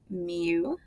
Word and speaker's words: mu: It is pronounced mu, and it represents the population mean.